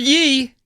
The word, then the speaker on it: ye: The word ye as in ye old shop. Ye oldie is actually pronounced 'the'. Oh, the medieval English people used Y to abbreviate th.